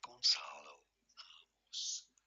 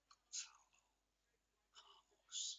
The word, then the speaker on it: Gonçalo Ramos: In Portuguese, it said something along the lines of Gonçalo Ramos. Gonçalo Ramos. Easy once you know. In English, you could say it as Gonçalo Ramos.